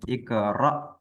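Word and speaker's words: اقرأ: Hamzah bisqq ah betul kalau Hamzah mati dia di diperjelas dipertegas gitu kan Iqra nah ro ra bis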